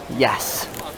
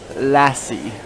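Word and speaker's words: Iași: When I first, like you spell it as I-A-S-I, but like you spell it as, say it as yes. I used to think it was like Lassie.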